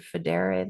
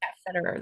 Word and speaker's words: Federer: his name right Richard federe the guy big tennis guy Federer or whatever his Federer Federer Federer that's right it was really cool